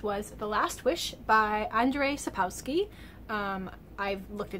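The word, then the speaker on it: Andrzej: the last wish by andrei sapowsky um i've looked it up and even that name is definitely is pronounced andre i wouldn't guess that from the spelling but i looked it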